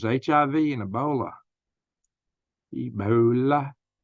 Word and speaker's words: Ebola: names HIV and ebola ebola kind of rhymes with the Lola remember my video video